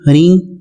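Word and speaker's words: ह्रीं: सबको पता ही है ओम ऐंग रिंग क्लींग चामुंडा विच्चे जो है यह नवार मंत्र है और कई लोग इसको ओम एम ह्रीम क्लीम चामुंडा विच्चे बढ़ते हैं ये दोनों ही तरह से उच्चारण जो किया जा रहा है वह ठीक है जब आप एंग हरिंग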